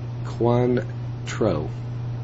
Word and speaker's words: Cointreau: Pronounced Cointreau.